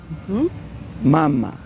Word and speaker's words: mama: Mama. Mama. O sea, sin acento. Le quitamos el acento, es mama.